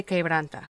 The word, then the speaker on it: Quebranta: school production in peru is quebranta that is pronounced que branta it is peru's only